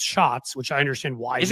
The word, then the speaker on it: Schatz: I used to say Schatz. I've been told it's pronounced shots, which I understand why.